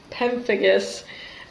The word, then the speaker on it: pemphigus: pemphigus or pemphigus is if you want to pronounce it correctly pemphigus um it's an autoimmune disorder so Auto antibodies